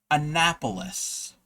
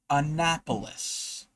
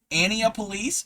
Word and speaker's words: Annapolis: The state capital of my state of Maryland is pronounced Annapolis. Annapolis. Anyway, Xylera is very incredible. Yes, you are set up. Ania Police?